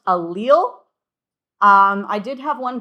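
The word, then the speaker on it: allele: So that is pronounced alil. Um I did have one class one time who insisted that it was alle which I did find kind of fun.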